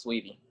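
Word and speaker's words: Saweetie: Oh, but by the way, her name's pronounced Sweetie.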